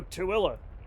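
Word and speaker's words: Tooele: The name pronounced Tilla derives from the name of a goshoot chief.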